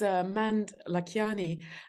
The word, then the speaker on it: Mand-Lakhiani: me sounding Rood yeah it's Mand Lani and it's a little complicated because it's uh half Estonian and half Indian I like it because